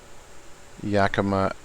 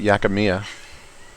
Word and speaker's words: Yakima: five two five huh yakima that's what it is i was calling it yakimiya my wife is making fun of me because i mispronounced yakima and said yakamia unfamiliar name to me